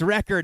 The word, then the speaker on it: Wrecker: one say my name it's wrecker not yeah so like